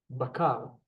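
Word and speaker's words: בקר: We We have the bet with the emphasis. And the kamats, making it a ba. Two. With the kamats, making it a baka. Bakar.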